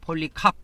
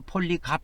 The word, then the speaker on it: 폴리캅: 그리고 사도 요한, 그 다음에 사도 요한이 이제 그 아까 말하는 폴리갑 있죠. 폴리캅 해도 되고 폴리갑 이렇게도 발음을 합니다.